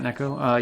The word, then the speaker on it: Neko: Neko, I assume is how you pronounce that? Like almost like cat Neko? Yes.